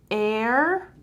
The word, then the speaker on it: heir: they are written differently so air and air you see they are written differently but they have the same sound so they are homophones